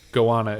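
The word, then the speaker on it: goanna: he calls her joanna google says gowanus gowana is the pronunciation for the lizard species so joanna is just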